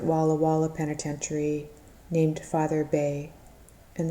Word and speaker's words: Bay: Walla penitentiary named father Bay and the last name is spelled be eh john told me it was pronounced bay who held to the